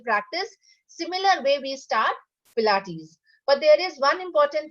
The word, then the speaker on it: Pilates: This came from Germany, so it's little difficult for Indians to pronounce it.